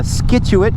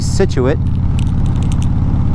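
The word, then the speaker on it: Scituate: You got uh skituit which is actually situ and uh you got warester which is wist you know.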